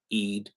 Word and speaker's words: Eid: Ramadan and the post Eid market. I hope I pronounced it correctly. So, is that correct? Eid. Is that how you pronounce it? Eid. Yes, that's correct.